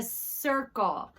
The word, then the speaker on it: circle: It's a circle. Circle. And our circle has a soft C because circle has an IR in it, which is a lookout letter.